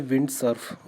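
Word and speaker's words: Vint Cerf: इसका जो करेक्ट नाम है इनका वो है विंड सर्फ।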